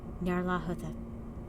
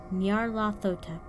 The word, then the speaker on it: Nyarlathotep: could remember, in the morning, how it had pronounced the words Azathoth and Nyarlathotep. Nope. Try that again. Nyarlathotep.